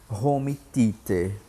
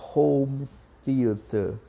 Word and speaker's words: home theater: que o atendente disse home theater ai pessoal chega dói nos ouvidos mas a pronúncia é home theater home theater a pronúncia do th que nós não temos no português aí acentuada que é